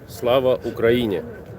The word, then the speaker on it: Слава Україні: I don't know how to pronounce what they said, but it means glory to Ukraine. Слава Slava Україні. Ukrainia. Слава Україні.